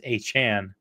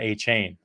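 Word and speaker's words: Achane: So that's where you can see it, and he actually says A Chan, not A Chain.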